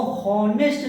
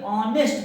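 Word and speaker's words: honest: तो देखो ये शुरू में तो यच है जो कॉन्सोनेंट है, लेकिन ओ के पहले यच होने पर अक्सर इसका प्रोनाउंसिएशन साइलेंट रखा जाता है। इसको हॉनेस्ट ना पढ़ के ऑनेस्ट पढ़ते हैं।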